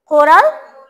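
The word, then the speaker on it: coral: কোরাল reef, C খয়ের মতো উচ্চারণ হবে, কোরাল রিফ। আচ্ছা আচ্ছা, কোরাল রে উচ্চারণ করার সময় খয়ের মতো উচ্চারণ করতে চাই আমরা, এতটা উচ্চারণ করব না যে খ, যে যাতে মনে হচ্ছে আমি কে এই যে খ উচ্চারণ করতেছি, ঠিক আছে? হালকা খ, কোরাল, কোরাল, হালকা কোরাল, কোরাল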